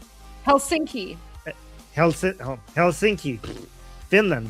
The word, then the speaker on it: Helsinki: Helinski Helsinki Hels Helsinki Finland right Finland Finland carally car rally for Iran.